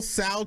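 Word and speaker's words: Tso: don't put it in tea so so it's pronounced general sal chicken is what it's pronounced yes okay so i went to get the general tiso chicken and they didn't have it available it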